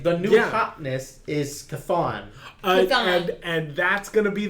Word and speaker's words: Chthon: Thon. I was literally just looking up like I need a pronunciation guide. Phonic. And then Phonic. The C is silent.